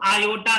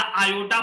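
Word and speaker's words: iota: तो सर हम लोग लिख सकते हैं i minus आयोटा into आयोटा का स्क्वायर। बच्चों आप इसको आई पढ़ो या आयोटा पढ़ो, दोनों सही है। आयोटा सही प्रोनाउंसिएशन है ना।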